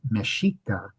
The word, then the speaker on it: Mexica: Mashika is the pronunciation that's used um for the original culture from which the modern country of Mexico gets its name.